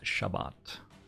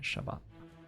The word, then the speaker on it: Shabbat: the bow is deliberate something a lot of Americans do with Hebrew words they but the emphasis in the wrong place usually the first syllable is emphasized including in it Shabbat good job thank you